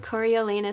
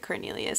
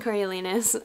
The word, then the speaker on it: Coriolanus: It follows 18-year-old Coriolanus Snow. I'm gonna try and say that right through the whole video, but in my head, I do pronounce it Cornelius, and I know it's not, but we're gonna do our best.